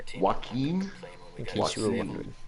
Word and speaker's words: Joaquin Phoenix: Oh, Mike was saying it's pronounced Joaquin Phoenix. Joaquin?